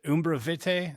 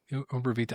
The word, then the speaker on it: Umbra Vitae: Your Wounds To, and is it Umbra Vitae? Is that how you pronounce it? Umbra Vitae. Vitae. Yeah, I mean that, I don't know how to say it. Umbra Vitae. I think it's that. It's a Latin term.